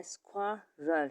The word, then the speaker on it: squirrel: इसको प्रोनाउंसिएशन जो है स्क्वल।